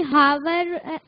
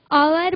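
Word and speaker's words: hour: क्योंकि बोलने जैसे कि हावर आवर बोलते हैं। शाबाश, उसको उसकी शुरुआती ध्वनि ह से नहीं होती बल्कि अ से होती है, तो उसको आर बोलते हैं, इसलिए उसके आगे क्या आता है, एन।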